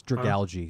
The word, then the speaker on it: Dragalge: It's Dragalge. It's like algae, I think. Dragalge. Dragon algae.